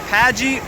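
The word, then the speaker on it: Pagee: the G okay welcome to P pagey is that how you say it yeah pagey beach in Port Maria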